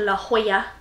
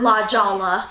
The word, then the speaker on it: La Jolla: car and drove down to San Diego to La Jolla not La Jolla yes it's quite how it's spelled and we went and saw them we